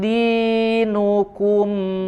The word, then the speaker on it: دينكم: Lakum di, ya, jangan sampai di, ya, turunkan, sempurnakan kasrohnya. Di panjang 2 harokat, ya, ada kasroh setelahnya ya.